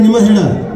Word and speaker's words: निंबाहेड़ा: ये निमा हेड़ा निमाड़ा करेक्ट उच्चारण क्या है निमाड़ा निंबाहेड़ा नहीं निमा हेड़ा तो लिखा हुआ है लेकिन बहुत प्यार से जब बोलते हैं ना तो निमाड़ा है ना तो आप लोगों